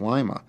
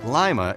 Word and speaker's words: Lima: It was named for the capital of Peru, and then, typical for the Midwest, took on its own pronunciation. At a glance, Lima is the picture of small-town America.